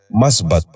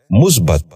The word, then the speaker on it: مثبت: متفقہ۔ پانچواں لفظ ہے مثبت۔ یہ غلط تلفظ ہے، درست تلفظ ہے مثبت۔ دوبارہ سنیے، مثبت۔ بچوں